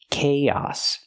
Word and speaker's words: chaos: remember the word chaos the pronunciation it doesn't match the spelling chaos use the ck sound like Cake Plus the long a k and then the a sound like hot and stop chaos we link the two